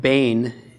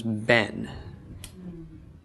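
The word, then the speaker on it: בֵּן: to a shorter vowel so in the case of Bane which means son when this is put in the construct state that sarah shortens to form a sigil it goes from a which is a long Val to F which is a short vowel so Bane becomes Ben and again this is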